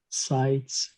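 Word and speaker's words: Zeit: so um yeah z is set examples are sites which is time then we have tai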